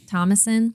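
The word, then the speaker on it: Thomasin: Tam Tamason. How do you say that? Thomasson.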